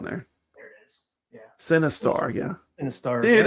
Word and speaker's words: Sinistar: It sounds the same. Sinistar. Yeah, it's spelled Sinistar. Yeah, like sin like movie. Sin, yeah, like a sin.